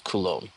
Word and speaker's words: Coulombe: my last name is Coulombe. It's got a lot of letters, but because it's all vowels, but um, the U throws everybody off, and the B is silent, so it's Coulombe.